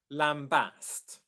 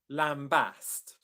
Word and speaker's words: lambast: Um, you stress the second syllable in both of these words.